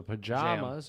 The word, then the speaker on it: pajamas: So the second syllable in pajamas should sound like the A in father or the A in jam. So pajamas or, A in jam, I would say the same.